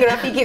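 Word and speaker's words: ROFFEKE: It's spelled as R-O F-E-double-K-E. It's double F-E-K-E. Yeah, right. That is, it's Rafiki, but we pronounce it as Rafiki.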